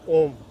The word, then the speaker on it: ओम: ओम जो शब्द है वो 3 अक्षरों से मिलकर बना है, जिसमें अ, उ और म का जो है मिलन दिखाया गया है। तो जब आप ओम का उच्चारण करते हैं तो आपको अ से शुरू होते हुए उ के ऊपर सबसे ज़्यादा साउंड को खींचना होता है, और फिर म पर लाकर उसे समाप्त करना होता है।